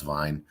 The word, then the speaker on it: Vyn: I think it's like pronounced Vine, VYN. But a wine project that